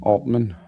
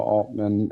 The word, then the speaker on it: Altman: Sam Altman strongly denies the allegations, labeling them extortion and utterly untrue, while countersuing for defamation.